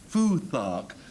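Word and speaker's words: futhark: Um, foot hawk is the way I would pronounce this next word. Frank fuark. Ah, fu fuark because it's Anglo-Saxon.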